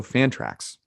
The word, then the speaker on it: Fantrax: Also, Fantrax rhymes with anthrax.